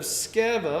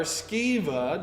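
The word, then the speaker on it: Sceva: by the name of skeva or skeva depending on how you want to uh pronounce it or maybe you want to make the c silence just say it's seva whatever you want to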